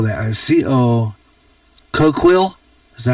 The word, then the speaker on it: Coquille: It sounds like Coke Hill. Okay, Coke Hill, when you pronounce it.